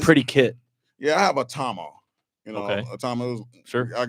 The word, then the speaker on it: Tama: Yeah, it's Atama.